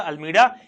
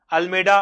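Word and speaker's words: Almeida: अल्मेडा, अल्मीडा अलग अलग इसका प्रोनाउंसिएट किया जाता है, उससे कोई फर्क नहीं पड़ता क्या प्रोनाउंसिएशन होता है।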